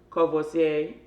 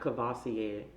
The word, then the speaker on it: Courvoisier: the biggest so we'll start off with uh covoisier found that out I've been saying this wrong for so long it is not Courvoisier it is not Courvoisier it is so that is the proper pronunciation